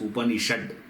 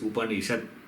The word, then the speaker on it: Upanishad: below upon yourself not it is not to be pronounced as upanishad it's not that it is upanishad so many you know